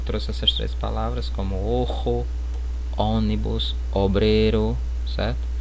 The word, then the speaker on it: ojo: Só eu trouxe essas três palavras como ojo, ônibus, obreiro, certo? Então o O a gente pronuncia de forma mais fechada, pessoal. Ojo, certo?